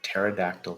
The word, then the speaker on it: pterodactyl: you never hear a pterodactyl P because the p is silent thank you